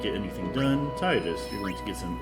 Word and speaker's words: Tidus: And yes, I'm aware that it's not Tidus, it's Tidus, but I don't like that pronunciation, so I'm not going to go with it.